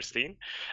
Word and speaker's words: Sten: My real name is Steen, or Sten. I don't know why I pronounce it different in English.